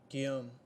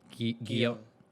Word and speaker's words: Guillaume: How to pronounce? Guillaume. Guillaume.